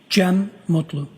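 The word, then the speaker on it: Cem Mutlu: I also spell it uh with a G. GM. And could you tell us your name, sir? Jen Mutlu.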